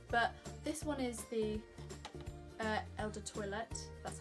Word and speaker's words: Eau de Toilette: But this one is the Eau de Toilette, that's how you say it.